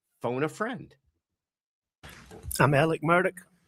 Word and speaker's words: Murdaugh: He pronounces his name Alec Murdaugh, which is apparently because